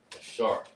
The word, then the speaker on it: Asher: It's pronounced Ashar.